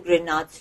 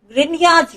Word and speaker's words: Grignard: As I said, Grignard's reagent, yes, the G is silent over here.